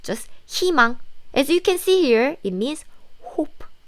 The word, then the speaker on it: 희망: The pronunciation here is 희망. So this sound dropped and just think this is like 희망. Yes, the sounds is different. Why? If there is any consonant here, then the pronunciation become 이.